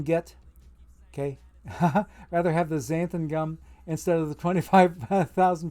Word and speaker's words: xanthan: It ends with AN. XANTHAN. So there's 2 different AN sounds there. Xanthan. Xanthan gum. I mispronounced it the first time around. I said xanthan gum. And I had my alliterations kind of bass-ackwards. It's xanthan. XANTHAN is how you spell it.